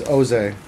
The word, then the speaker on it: Jose: Oh, yeah, and it's Oze, no J.